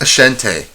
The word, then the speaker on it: Ashanti: It's pronounced Ashanti. Ashanti Protocol.